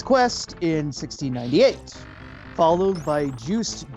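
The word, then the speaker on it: Juste: Followed by Juiced Belmont, I believe that's how that's pronounced.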